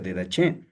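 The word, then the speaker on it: Didache: de che, por favor, de dach o de g también algunos pero se pronuncia de dach.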